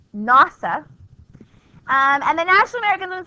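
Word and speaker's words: NAWSA: So now we have the National American Women's Suffrage Association, which is pronounced NASA, and the National American Women's Suffrage Association, they're going to be led by a woman named Carrie Chapman Catt.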